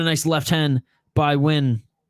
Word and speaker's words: Nguyen: Oh, and a nice left hand by Nguyen. That's how you pronounce her name? Nguyen. It's Nguyen.